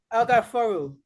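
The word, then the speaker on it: Alghaffaaru: That's how you spell it. Thank you. And you say El Ga For Ru. El-Gaforu.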